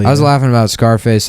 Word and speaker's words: Scarface: I was laughing about Scarface. I like to pronounce the name of that movie like you would the word surface.